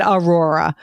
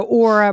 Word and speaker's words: Aura: a company and I'm I butchered that last time too which it's so crazy because I've not I said I think I said Aura but it's it is AA but I said Aurora yeah said aora yes so Aura merchandising um